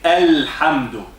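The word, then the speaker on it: الحمد: And we say Alhamdu. Alhamdu. Okay? Ha is one of the 14 letters that we mentioned now. So the lam is pronounced.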